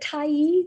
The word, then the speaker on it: Tyee: Colleen, is it Tyee?